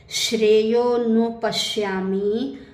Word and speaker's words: श्रेयोनुपश्यामि: अब यहाँ देखो हमने ए का उच्चारण नहीं किया। श्रेयोनुपश्यामि हत्वा स्वजन माहवे।